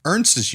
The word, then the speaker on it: Ernstes: Ernst, you dick.